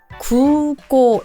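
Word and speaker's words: 空港: 하는 곳이 어디죠 공항이아요 공항이 1번으로 고예요 구고 이것도 길게 길게 이렇게 발음을 하는게 꼭 중요한 부분입니다 이거 꼭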